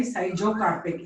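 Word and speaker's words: schizocarpic: You have to pronounce it as dry syzocarpic. SCHIZO. Syzocarpic fruit. Done.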